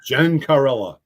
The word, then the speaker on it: Gencarella: Those Italian names are tough to pronounce, let me tell you. Gencarella.